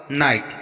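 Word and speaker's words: knight: किसी भी स्पेलिंग में अगर के बाद एन आता है और उसके बाद कोई वॉवेल जैसे ई, ए, आई, ओ, यू आता है तो वहाँ ज़्यादातर के का उच्चारण नहीं किया जाता है। फॉर एग्जाम्पल नाइट, यहाँ पर के बाद एन आया है और एन के बाद आई वॉवेल आया है, तो यहाँ पर हम के का उच्चारण नहीं करेंगे, नाइट इसको पढ़ा जाएगा।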